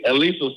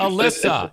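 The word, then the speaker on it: Elissa: Elisa Slotkin. God for damn Senate. it. No, Thanks. it's Alyssa.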